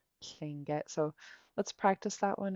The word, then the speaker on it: Tlingit: Yeah, it gets pronounced with a K, but actually the word is Tlingit. So let's practice that one again. Repeat after me. Tlingit. Klingit.